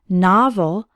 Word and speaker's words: novel: net first let's learn the pronunciation the letter O has an a sound as in the words Rock and not novel has two syllables and the stress is on the first one novel novel can be